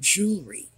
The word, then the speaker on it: jewelry: If I want to put jewelry on my wrists, I will use cufflinks. Which brings me to another point. The word is jewelry. J-E-W-E-L are why. Two syllables, jewelry. It's not jewelry.